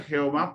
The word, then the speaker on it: Jehová: dios y cuando vemos el nombre jehová pues es una pronunciación en alemán del nombre llave y es una pronunciación